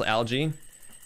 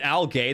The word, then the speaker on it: algae: know algae is supposed spelled like or it's pronounced algae dog English is crazy were you calling it Al gay this whole time are you calling it Al gay what that plans ever do to you how